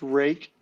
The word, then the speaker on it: Ruike: case you were wondering this is pronounced rake I have called the